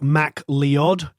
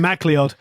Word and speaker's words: MacLeod: the Americans are listening it's it's like Mack liad mr. Mack Lyon he always jokes about